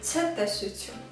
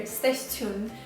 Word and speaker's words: ցտեսություն: One way to do that is just saying ցտեսություն. Many Armenians pronounce this in a wrong way. You might hear ստեսություն, but it doesn't really mean anything, and it's a little incorrect way to say ցտեսություն.